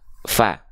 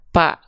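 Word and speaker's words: ف: keliru teman-teman sahabat-sahabat sekalian Jangan sampai kita baca pa Ya pa pipu tapi Fa fi fu Nah kita bahas dulu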